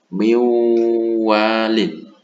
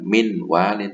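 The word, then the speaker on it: مِن وَالٍ: Cara membacanya miwalin, miwalin, bukan min walin, bukan, tapi nun sukunnya melebur ke huruf idgham bi gunnahnya yaitu wawu. Miwalin, miu.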